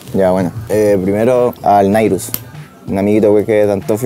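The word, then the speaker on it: Nyruz: Nairus, ¿cómo se escribe ahí? ¿Cómo suena? Nairus.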